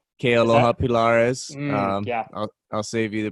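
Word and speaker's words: Kealoha Pilares: And Kaloa Pilaris? Kealoha Pilaris. Yeah. I'll save you the pronunciation there, but yeah, Kealoha Pilaris.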